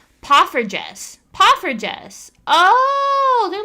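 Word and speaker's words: poffertjes: Oh, it's pronounced pufferess.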